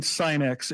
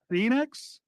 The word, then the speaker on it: Sinex: am so embarrassed because for decades I've been mispronouncing sinx and it is Sinex syx oh my gosh